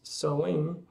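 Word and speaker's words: Samhain: date back to the ancient celtic festival of sawain pronounced sewing the kel 2 lived 2 000 years ago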